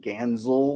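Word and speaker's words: Ganssle: It's it's it's spelled with it's spelled I think G- A SS E L but it's pronounced Ganzel like with Z's but uh he recently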